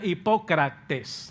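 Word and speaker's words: ὑποκριτής: Significa, en el griego se pronuncia hipócrates. Así, hipócrates en el griego.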